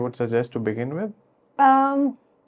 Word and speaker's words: Om: Om is the mantra which has 3 syllables: A, U, M, U, Ma, Akar, Ukar, Makar.